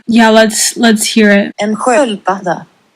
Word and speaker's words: sköldpadda: En sköldpadda. Right. That's exactly what I was thinking. Sköld. Where? You see that? That's an S.